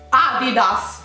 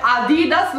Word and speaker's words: adidas: corretto noi si dice adidas non si dice a dida su 16 adidas si dice a